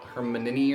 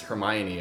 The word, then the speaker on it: Hermione: Like in my head it was like Hermione or something like that, like kind of like the way that Victor Cruz, the Quidditch player in book 4, like kind of like the way he pronounced it, it was how I heard it in my head. And then when the movies came out and it was Hermione, I was like, oh that's how you say that, okay.